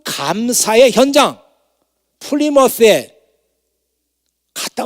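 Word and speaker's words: Plymouth: 플리머스 발음하는 거 보면 알아요. 안 갔다 온 사람들은 플리마우스라고 다 그러면 플리마우스, 쥐새끼 생각하는 거예요. 근데 그렇게 발음 안 하거든요. 갔다 온 사람들은 플리머스라고 발음해요.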